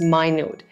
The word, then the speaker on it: minute: Another way of saying this is minute. Notice that the spelling is the same as the unit of time, a minute. However, the pronunciation is different.